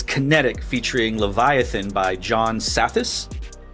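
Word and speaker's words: Psathas: Uh part four is Kinetic featuring Leviathan by John Satis. It's got the silent P like Flugerville.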